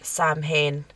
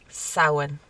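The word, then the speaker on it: Samhain: the love of God stop calling it Sam Hayne it's Sauron I do get it all because of the way it's spelled oh yeah it makes sense but it's sour just so you know you know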